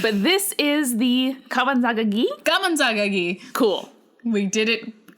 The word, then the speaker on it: Gameunjang: Gameunjang. Cool. We did it correctly. You're gonna hate our pronunciation throughout.